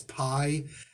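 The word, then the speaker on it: Pei: again anyway um and pays i think you're supposed to pronounce p e i pay as pi i'm gonna go with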